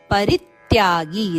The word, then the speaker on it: ಪರಿತ್ಯಾಗಿ: ರಂಭ ಮಹಾಪ್ರಾಣ ಭ ಪರಿ ಪರಿತ್ಯಾಗಿ ಪರಿತ್ಯಾಗಿ ರಿಯ ಮೇಲೆ ಆಘಾತ ಇದೆ ಮುಂದೆ ಬರುವ ಜೋಡಕ್ಷರ ರಿತ್ಯಾಗಿ